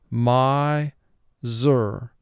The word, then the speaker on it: miser: is a two-syllable word the first syllable is my two sounds um i second syllable zer two sounds z er my zur pause the video to